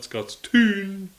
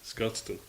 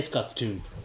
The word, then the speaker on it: Scotstoun: Scotstoun are telling me it's not Scottstown, it's Scotstoun. Yes, but we prefer to say Scots tune We do. because there's a moose loose Because with the and soos. it rhymes with we're doomed.